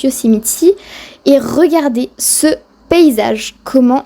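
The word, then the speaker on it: Yosemite: est allé à yoséite donc là-bas ça se prononce yosemitti et regardez ce paysage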